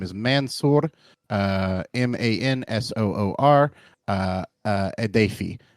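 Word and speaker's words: Mansoor: never before heard testimony from former Guantanamo prisoner mansor Adam uh and and I'm sure I mispronounced that I'm sorry audience his name is Mansour uh m-a-n-s-o-o-r uh uh adafi a-d-a-y-f-i who was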